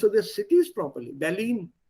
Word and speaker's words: Berlin: Berlin, nicht Berlin. Entschuldigung, Berlin ist das. Berlin. Which is why I keep also insisting here, ठीक तरह pronounce करो उसको. Ich fahre nach Berlin und nicht ich fahre nach Berlin. Berlin is English. The Berlin is Deutsch.